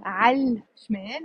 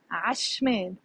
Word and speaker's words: عشمال: Notice I'm not saying عالشمال. I'm saying عشمال.